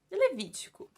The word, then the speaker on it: Levítico: Levítico. Eu tô pronunciando o nome bíblico errado. Levítico.